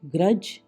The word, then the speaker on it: grudge: GRUDGE, ग्रज, द्वेष।